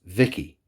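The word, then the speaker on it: VIKI: I don't know if it's with, I don't know exactly how it's spelled, but the name is pronounced Vicky.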